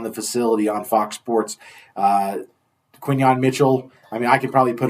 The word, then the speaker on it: Quinyon: Because they're saying Keenan and Kunyon. I know. Isn't it funny? Come on, it's Quinyon.